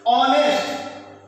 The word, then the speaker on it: honest: एक consonant word है, लेकिन उसका प्रोनाउंसिएशन उच्चारण क्या हो रहा है, ऑनेस्ट, यानी आ का साउंड दे रहा है, और आ हमारे इसमें है आ है, तो ये क्या हो जाएगा, एन ऑनेस्ट।